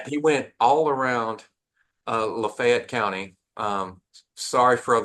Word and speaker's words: Lafayette: went all around uh Lafayette County um sorry for all those people in south Louisiana listening we mispronounce it here in where Oxford is I apologize but we pronounce it LEF here uh he went all